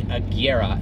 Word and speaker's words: Agera: koenigsegg agera r kelly it's like a tiara are we just got roasted cuz we call it the jera and everybody was complaining about that so sorry guys there you go so even automotive enthusiasts a jira r is not right it is the Kiera and Koenigsegg that is